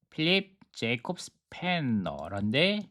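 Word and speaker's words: Philipp Jakob Spener: 이렇게 필립 제이콥 스페너란데 독일어 발음 것 같아요. 필리프 야코프 슈페너 독일어 발음 같습니다.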